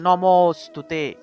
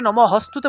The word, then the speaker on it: নমস্তুতে: তাহলে নমস্তুতে, নমস্তুতে, আমরা যে জায়গাতে এরকম নমস্তুতে শব্দটা পাবো, অনেকে নম হস্তুতে বলে ফেলেন, এটা হ হবে না, এটা কিন্তু হ নয়, এটা হয়ের মতো দেখতে হলে ওইটা কিন্তু হ হবে না।